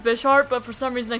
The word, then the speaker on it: Bisharp: Although I know it's pronounced Bisharp, but for some reason I keep saying B sharp anyway.